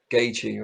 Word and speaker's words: Gaethje: I've always wanted to know how to pronounce his surname. Gaethje, right?